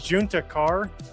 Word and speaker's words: Juntakharr: But it was Junta Kar, which was a Star Wars name, and you kept pronouncing it Hispanic because of Texas.